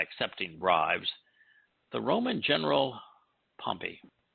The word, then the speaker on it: Pompey: bribes the roman general pompey sometimes called pompeii but i think pumpy is the proper pronunciation yeah i think so